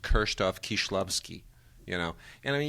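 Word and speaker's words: Krzysztof Kieślowski: are a lot of those like we say kristofh kislowski it should be pronounced kroff kishlovsky you know and I mean you could really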